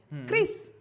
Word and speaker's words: QRIS: Chris. Wih, Chris. QRIS. Kita so Inggris banget nih. So Inggris, dibacanya Chris. Chris. Bacanya Chris ya teman-teman Bacanya ya.